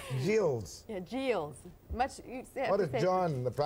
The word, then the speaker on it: Geills: your first name please it's g e i l LS and how do you pronounce it it's called JS and it's G you